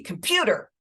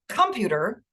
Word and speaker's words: computer: to be your name it can be computer not computer or computer so the Pew is the stressed syllable there okay or uh